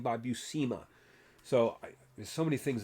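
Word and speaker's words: Buscema: And by the way, his name is pronounced Bucima, not Bushma. I've heard him interviewed more than once and he pronounces his own last last name by Bucima.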